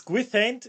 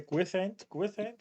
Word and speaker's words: Gwythaint: If I say Gwythaint, I or think so, yeah, okay, okay, I've never heard it out loud, so okay, but yeah, it's definitely a gwyth sound.